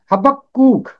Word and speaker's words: حبقوق: اس کا تلفظ ہے حبقوق، حبقوق۔ یہاں کاف کے اوپر تشدید ہے اور پھر اس پر پیش ہے، کاف یہاں 2 دفعہ